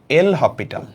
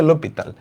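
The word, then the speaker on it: L'Hôpital: আর limit সমাধানের আরেকটা উপায় আছে, যেটা হচ্ছে আমাদের আজকেরটা, এল হপিটাল। লা হসপিটাল, এল হপিটাল, লোপিতাল। আসল উচ্চারণ হচ্ছে লোপিতাল। এল হপি, এইচটা উচ্চারিত হয় না।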